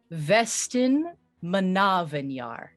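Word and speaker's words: Vestenmannavnjar: pronounce this country's name it is pronounced vestin manavinyar the way how i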